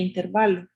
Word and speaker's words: intervalo: Entonces es intervalo, así se lee, intervalo. ¿Verdad? Intervalo. Porque cuando pues no lleva tilde, ¿verdad? Entonces el acento recae en la penúltima sílaba.